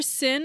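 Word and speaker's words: Xin: think it was sin it's pronounced sin King sin K sin because we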